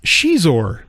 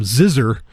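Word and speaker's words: Xizor: officially licensed uh Prince Shor or at the time I actually I called him zizzer because you know I didn't know really how to pronounce it um but then the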